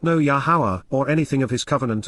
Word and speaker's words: Yahowah: not, lo, me, any, Yahowah, the proper pronunciation of Yahowah based upon his Torah, teaching regarding his higher existence.